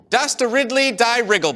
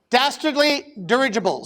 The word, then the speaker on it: Dastardly Dirigible: oh ok first up duster Ridley die Riggle bliss that's dastardly dirigible 'he's right would you